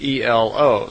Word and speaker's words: Elo: And semi in their language is E-L-O, so Elo.